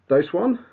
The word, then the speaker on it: Doseone: Adam Drucker, also known as Doseone. That's it. That's how we Hello, pronounce it.